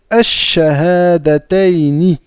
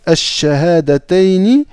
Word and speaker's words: Ash-Shahadatayni: Donc ici, c'est pareil, vous voyez, le shin fait partie des huruf Ash-Shamsiyya, d'accord? Donc on ne va pas prononcer le lam ici, on va dire Ash-Shahadatayni. Donc Ash-Shahadatayni, ça veut dire les deux attestations de foi.